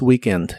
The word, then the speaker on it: weekend: Y la doble e de weekend suena como si fuera una i larga o doble.